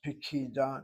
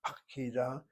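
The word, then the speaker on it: פקידה: This kamatz is two places removed and reduces to a shvana. That is why your text has pikida, not pakida, as a feminine singular. It's a question of an additional syllable, and the accent is on that third syllable, and the first syllable loses kamatz.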